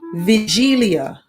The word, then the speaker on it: wigilia: polish wagelia wigilia which is pronounced vigilia oh because it's polish and the poles are